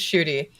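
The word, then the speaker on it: Ncuti: Let's call him Gatwa instead of Shoot, but his name is pronounced Shooty.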